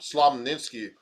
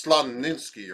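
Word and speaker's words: Slonimsky: systems the slaminsky's slop slammed in ski i always said his name wrong it's slumninsky or something that's his name so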